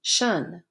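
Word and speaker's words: -tion: For example, look at how many words have the suffix pronounced shun, T-I-O-N.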